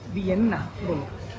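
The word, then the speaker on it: Wien: না তার কারণ ভিয়েনাতে ভিয়েনাকে ভিএন বলে আর উচ্চারণ করে হল ভিএননা তো বাকি আমাদের ভিয়েনাটা এখানে কোনটা দেখা যায়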